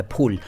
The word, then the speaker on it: फूल: गुल का मतलब है फूल। फूल नहीं, फूल बोलते हैं कई लोग। फूल फैल गया, फट गया, फाड़ दिया, ये सब गलत उच्चारण है।